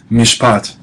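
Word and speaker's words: מִשְׁפָּט: Notice there um the shabba in mishpot is silent, not vocalized because it closes a syllable. Mish pot. And notice the comments there is the a sound, not the o because it's accented.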